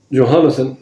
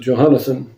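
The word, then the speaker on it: Jehonathan: And over the storehouses in the fields and the cities and in the villages and in the castles was Johannathan, that's how you pronounce it, Johannathan, the son of Uzziah.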